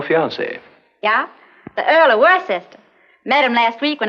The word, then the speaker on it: Worcester: But it's spelled Worcester.